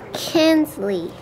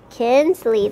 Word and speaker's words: Kinsley: saying her name a lot better she'll say Kenley like we've been practicing Kenley what's your name Kenley yes Kinsley that's a a lot that's a lot better